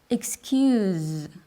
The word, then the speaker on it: excuse: written the same way the noun excuse and the verb to excuse don't sound exactly the same excuse the noun is